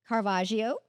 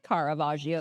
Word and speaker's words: Caravaggio: let us know about carvaggio I say that right Caravaggio I want to say carvaggio too like there's an extra syllable kagio let us know